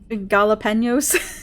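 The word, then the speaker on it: jalapeños: Jalapenos. I can't even say. I have to say with the N.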